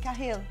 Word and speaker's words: Cahill: He scored Cahill, like Cavill.